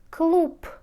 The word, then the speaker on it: клуб: в говорите саратов саратов клуб клуб пишите говорите клуб клуб рассказ пишите за говорите